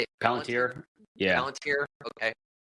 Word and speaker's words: Palantir: So the founder of Palantir, how do you say it? Palantir.